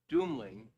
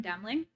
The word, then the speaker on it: Demling: name is Dr demling I'm sorry I pronounced your name wrong you were very close my name is Dr demling I'm a psychiatrist and